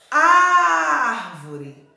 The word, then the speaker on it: árvore: Árvore, ó. Árvore. A sílaba que mais se alongou foi o o A e o R. A primeira sílaba. Ó, árvore. É um som aberto. Então, nós usamos o acento agudo.